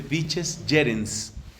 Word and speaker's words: vices gerens: Si vamos a pronunciar el latín al modo italiano, que es lo más común en la iglesia, se dice vices gerens, va con G. Si lo vamos a pronunciar al estilo clásico, suena vices gerens.